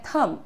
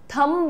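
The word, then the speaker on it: thumb: इसे हम कहते हैं थम, राइट. थंब नहीं, थंब नहीं, थम, ठीक है, क्योंकि बी साइलेंट होता है इसमें.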